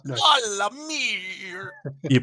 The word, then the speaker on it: Solamnia: Solamia, it's SARL. SARL. AMIR, but it's pronounced Solamia.